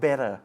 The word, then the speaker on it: better: will get Better นะ คำ ว่า Better ก็ ออก เสียง ได้ 2 แบบ เนาะ ออก เสียง เป็น ท ทหาร หรือ ออก เสียง เป็น ด เด็ก ก็ ได้ นะ คะ Things will get Better หรือ Things will get Better ได้ หมด นะ ฮะ เออ เพื่อน เศร้า